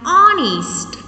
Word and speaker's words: honest: an hour and honor like these other examples and honest and honorable so before all